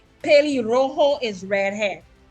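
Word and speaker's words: pelirrojo: going to get points understand yes ma'am right P Rojo is red head p p e l i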